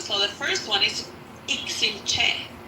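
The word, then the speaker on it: Iximche: But the way you pronounce them, so the first one is Ixinche. Ixinche.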